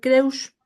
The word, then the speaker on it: Kreusch: en radioteca con Richard kus Sí está bien pronunciado Sí claro bueno CR pero creus o como quieran está perfecto no O cómo Perdón